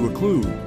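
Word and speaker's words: occlude: but when when you olude rhymes with exclude they are unwelcome and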